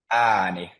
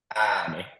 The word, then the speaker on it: ääni: And does someone want to try to pronounce the next one? Ääni. Please repeat after me. Ääni.